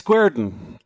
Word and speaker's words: Guerdon: city that I'm going to totally blow the pronunciation on. So what is the name of the city? It's Guerdon.